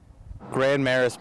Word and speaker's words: Grand Marais: Our refusal to use true French pronunciations is especially puzzling considering the area's deep French-Canadian roots.